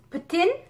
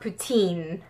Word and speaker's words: poutine: good luck with that bonus know that it's pronounced put in and not poutine yeah I learned that the hard way from